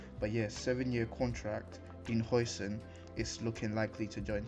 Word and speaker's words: Huijsen: Our first bit of news here is Dean Hoyson, I believe his name is pronounced, is looking likely to join Chelsea.